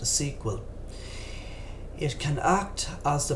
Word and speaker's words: SQL: An example of an SQL database is Microsoft's SQL Server, pronounced SQL.